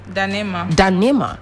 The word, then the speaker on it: Ndanemah: Like the N is silent. The N is silent. Yeah. So it is Ndanemah.